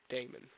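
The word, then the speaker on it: daemon: d-e-m-o-n it's spelt d-a-e-m-o-n damon but they pronounce the demon like the christian yeah i know and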